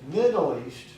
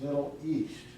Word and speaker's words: Middle East: So, when you said Middle East, you stressed the first syllable of that 3-syllable phrase. We usually stress the last syllable, so it's Middle East.